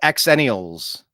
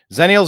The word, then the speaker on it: Xennials: there we go yeah we were called xennials but it's X NN I a LS I've never seen it spelled with a z although that is probably the pronunciation zenial are terrified of a